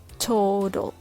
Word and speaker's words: total: replace the t sound with a soft d sound like total total turtle turtle legal little can you hear the difference between total and total turtle and turtle little and little how about poodle ladle middle they are dl clusters but sounds exactly like the tl clusters in american english if you practice blending